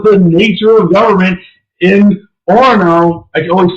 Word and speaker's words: Orono: That was the nature of government in Orono. I can always say the name wrong. Is that right? Orono. Yeah, you don't say the second O because it's one of those weird Minnesota words.